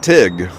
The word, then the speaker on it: Teague: i live in teague the locals pronounce it tig t-i-g okay i guess i guess it would be tig then wouldn't it all right